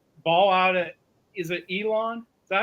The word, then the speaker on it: Elon: Is it Elon? Is that how you pronounce that?